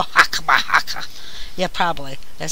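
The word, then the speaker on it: Chokhmah: These are How would you pronounce that? Hokama? And Binah? I'm not sure. Where located are you at? Right here? Hokama? Oh, right here? Right there, yeah. Hakma? There you go. Hakma.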